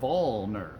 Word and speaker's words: Vollmer: It is like wall or tall or ball but with a V. It's Vollmer.